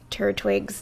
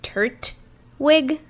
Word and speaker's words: Turtwig: i was definitely mispronouncing turtwig's name in the first episode i was very much thinking it was tert wig not tur twig oh fair enough it